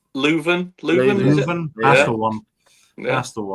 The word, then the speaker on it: Leuven: pronunciation. O-H Leuven? Leuven.